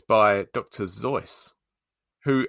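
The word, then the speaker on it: Seuss: and it's by dr zoice who apparently pronounced his name to rhyme with rejoice do you mean reduce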